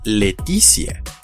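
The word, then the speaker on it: laetitia: otra norma es que cuando la sílaba t y es seguida de una vocal se transforma en ce y más esa vocal como en la palabra que se pronuncia letizia que significa felicidad y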